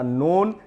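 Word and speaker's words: known: नो और इसके बाद तीसरा फॉर्म होता है नॉन यानी जान चुका या जान लिया तो जान लिया ये पस्त पार्टिसिपल फॉर्म में इसका वर्ड आएगा नॉन यहां पर भी के साइलेंट होगा इसी प्रकार से वेल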